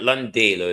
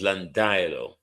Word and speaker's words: Landilo: It's not Landalo, it's Landilo. Landilo.